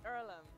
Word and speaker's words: Earlham: do is it ireland is it pronounced earlham it's earlham and it's a place for amateur farmers athletes